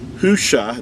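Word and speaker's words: Hoshea: is we talked about the original name of joshua was hushah that's that's how his name was pronounced these are the letters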